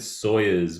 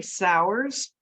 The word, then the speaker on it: Sauers: I think I said Sawyers before, but I'm It- wondering. which, which is fine. It's actually Sauers, but Sauers.